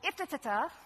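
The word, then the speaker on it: IFTTT: This tool is called if-ta-ta-ta. That's the way I say it, if-ta-ta-ta. It's if this, then that. They say it a different way. They make it rhyme with lift, but I like if-ta-ta-ta.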